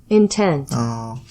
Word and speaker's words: intent: intent in intent intent intent is the pronunciation is more higher in the second part of the of this word intent object object for